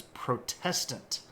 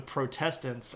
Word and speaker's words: Protestant: And I find it ultimately amazing that the Protestants over time have managed to shift the emphasis of that word to the first syllable, Protestant, when in fact they're still in protest of the Catholic Church.